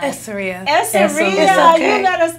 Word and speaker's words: Essoria: Essoria.